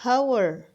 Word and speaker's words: hour: Di situ tulisannya hour. Kenapa tidak pakai Kenapa pakai en? Karena bacanya bukan hour tapi hour. H-nya hilang atau huruf H-nya hilang.